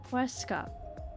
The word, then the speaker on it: Huesca: Vivi is the only person who pronounces Huesca with more of a pronounced H. Huesca.